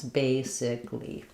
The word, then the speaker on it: basically: It's just three syllables. Basically, uh, so that's a common error pattern. If you felt said basically, don't feel bad. It's normal because of how it's spelled, but it's good to be aware that a lot of these adverbs that end in a L l y only have three syllables. They don't have a syllable for the a sound.